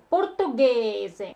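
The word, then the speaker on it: portoghese: Португезе, португезе. Мы ставим буковку АК, чтобы буковка G читалась как Г.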